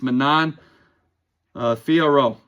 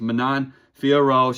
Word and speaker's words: Manon Fiorot: She's going against Manon Fiorot. And that's how you pronounce her name.